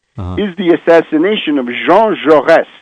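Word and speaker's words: Jaurès: would point to is the assassination of Jean jores j a u s with a little Accent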